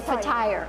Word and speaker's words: fatayer: This is what we call fatayer. And then how do you say it actually? So it's like flat tire. Like flat tire. So fatayer.